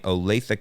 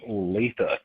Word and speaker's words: Olathe: even know how to pronounce that until he pronounced it for me. Olathe, Kansas. So here we go. Hi, Alan. This is from Olathe, Kansas.